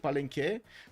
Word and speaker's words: Palenque: The last E in Palenque, you mean, I checked, it's in Spanish language, so I need to pronounce it Palenque. Palenque. Oh, that kind of sounds weird.